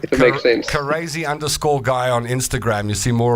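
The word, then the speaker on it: CARAZY_GUY: It's Crazy Guy, but it's spelled CARAZY and then _GUY.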